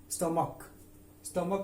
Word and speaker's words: stomach: स्टमक में STOMACH, इसमें H silent है।